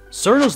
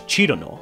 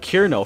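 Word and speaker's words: Cirno: is the original Japanese chirono while other westerners say it as cerno due to how it's written in Latin characters there are other rare pronunciations like kirno for those monsters who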